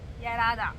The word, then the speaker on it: Yarada: আর প্রথমে তো কি হয়েছিল সেটা নিশ্চয়ই তোমরা গল্পটা ইরাদা ইরাদা ইয়ারাদা ইয়ারাদা ঠিকঠাক ভাবে এটা কি রাধার উচ্চারণটা বোন?